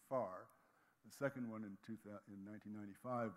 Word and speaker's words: FAR: The first assessment report of IPCC is known in the trade as the FAR, pronounced FAR.